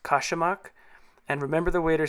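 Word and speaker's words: Kačamak: It's called, I think, pronounced kashamak, and remember the waiter said, strong, you won't like it, but gives you energy.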